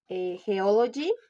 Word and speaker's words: geology: Geology, the stress is on the third form, the last syllable, because of the suffix "g."